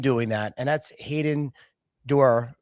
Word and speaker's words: Duer: And that's Hayden Dur, right? Am I pronouncing that right? from your Der um I love that Derer Okami Group and he's based in California.